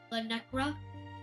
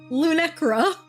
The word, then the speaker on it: Luncra: L Necra, feel free to visit whenever you wish. Our door is always open for you. Do you not know how to say my name? Luncra.